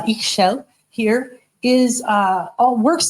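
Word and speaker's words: Ixchel: The earth goddess Ish is uh X is pronounced uh Ishel here is uh all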